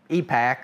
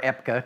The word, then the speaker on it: EPCA: Department of Energy to regulate products was derived from a law called EPAC, or EPCA, depending on how you want to pronounce it, the Energy Policy Act of 1975.